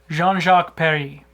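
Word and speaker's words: Jean-Jacques Perrey: Jean-Jacques Perry. Oh, you know how to pronounce it.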